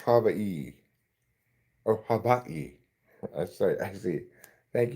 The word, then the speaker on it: Hawaii: Excuse me, it's pronounced Hawaii.